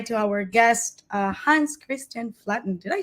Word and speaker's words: Flaatten: And now is a good time to say hi to our guest, Hans Kristian Flaatten.